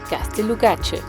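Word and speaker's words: Gaztelugatxe: Ciao - bye In the next video we'll show you Gatzelugatxe - yes, that's actually how it's pronounced correctly, we will find an extraordinary campsite,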